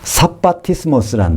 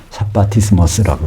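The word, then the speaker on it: σαββατισμός: 사바티스모스라는 말. 사바티스모스. 헬라어로 성경에 한 번 나와요. 원래 샤바트가 안식이라는 뜻이죠. 안식인데 그거를 헬라식으로 발음해서 안식하는 일이라는 단어로 성경에 처음이자 마지막으로 등장하는 것이 히브리서 4장 9절에 사바티스모스.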